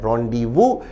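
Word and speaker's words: rendezvous: उच्चारण है रोंडीवु।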